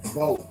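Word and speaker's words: Beau: Bo. Gotcha. Cause that's what Most people say boo. Right, I that's don't know what I why wanted they to say blue, say. but it's pronounced both.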